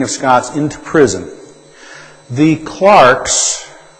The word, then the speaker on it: Clerk: Scots into prison the clarks CL e RK is pronounced Clark in America we like to pronounce it clerk but the correct pronunciation is Clark the clocks of Aberdeen